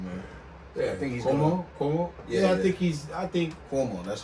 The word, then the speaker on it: Cuomo: I think Kumo said it. Leave your chin straps at home. That boy on a run, man. Yeah, I think he's Cuomo.